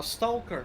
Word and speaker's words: stalker: is taken from uh stalker actually that game series the L is is silent in that word in English weird I know talker stalker yeah yeah oh so you